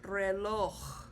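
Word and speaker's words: reloj: So the word is pronounced relo. Okay. So the stress is on the O and the J sound or the J at is at the end with an H sound.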